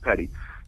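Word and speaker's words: petit: a civilians Petty trial it's spelled p-e-t-i-t it's pronounced Petty civilians Petty trial at Outlet Church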